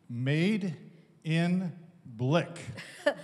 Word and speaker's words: Medenblik: made in Blick. Made in Black. Just like made in Indonesia.